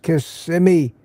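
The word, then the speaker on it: Kissimmee: Greetings from Kissmi. And it is pronounced Kissmi, Florida.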